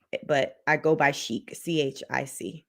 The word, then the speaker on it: Chic: i go by chic c-h-i-c it's a french name joseph it is click say um cheeks say what or is it chick as in say what so it's chic as in like s-h-e-e-k but it's pronounce or